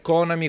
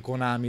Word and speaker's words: Konami: con amici dice allora la pronuncia corretta e konami quella vera proprio in italia si dice anche konami tranquillamente un po come sega